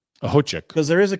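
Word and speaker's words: Okhotiuk: Nikita Ahochik. The K is silent. Don't let it fool you. Ahochik.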